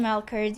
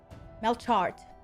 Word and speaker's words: Melchard: Thank you again, Melkert. You're amazing. For the record, my name is pronounced Melchard.